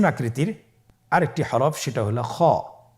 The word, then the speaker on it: খ: খ হরফটির মাখরাজ হলো কন্ঠনালীর শেষ ভাগ হতে উচ্চারণ করতে হয়। কন্ঠনালীর শেষ ভাগ। আপনারা আমার সাথে বলুন খ আবার বলুন খ মাশআল্লাহ।